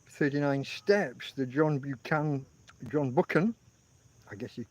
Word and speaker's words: Buchan: well I guess 39 steps the John Buchan John booken I guess you pronounce it I was going to say banan but it's not it's bookan John booken novel turned into uh a number